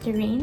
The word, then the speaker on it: Terence: Terence, and I believe parents it should be pronounced Terene. My mom told me a bunch of times to pronounce it Terene, but I'm so used to pronouncing it Terence, so whatever.